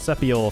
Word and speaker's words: Sepi-01: builder luke it is spelled sepi-01 but pronounced sepial for some reason and it is a